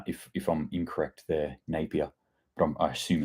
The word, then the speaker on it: Napier: it's um uh centered around Napier am I pronouncing that right Peter please correct me uh if if I'm incorrect there Napier but I assume it's Napier and in the